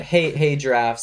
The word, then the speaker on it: Hay Giraffes: It's Hey Giraffes, and it's Giraffes. H-A-Y and not H-E-Y. Yeah. So it's a hey like the straw, yeah. and not like hey.